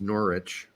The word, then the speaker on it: Norwich: Before we get to the Brooks questions, first, Brett, you mispronounced Norwich. It's Norwich, by the way.